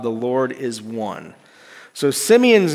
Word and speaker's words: Simeon: His name, we pronounce it in English, Simeon. But in Hebrew, it would have been more like Shemaian.